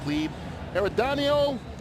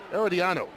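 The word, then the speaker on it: Herediano: Costa Rica's premier football cleardano in the Champions League group stage. I mispronounced that. I knew I would. Eeriano, that's who they're playing the Champions League group stage.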